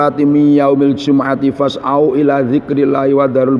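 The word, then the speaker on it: جُمُعَة: Jadi kalau mimnya dibaca doma Jumu'at, itu lughatnya Hijaz. Orang Hijaz masuk Mekah Madinah, itu bacanya Jumu'at. Jumu'at lughatul Hijaz. Kalau dibaca Jumaat, yang mimnya di fathah, itu lughatnya Tamim. Jadi di Arab ada semuanya suku Tamim. Itu kalau membaca Jumaat.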